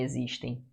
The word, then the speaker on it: existem: Esse X tem som de Z, né?